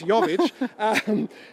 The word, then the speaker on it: Jovic: Got the J, but it's Jovic.